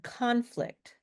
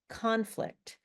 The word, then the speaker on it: conflict: Now, we we put the stress in a noun on the first syllable and we put the stress in a verb on the second syllable.